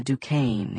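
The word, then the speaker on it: Duchannes: Lena Dukane. It rhymes with rain.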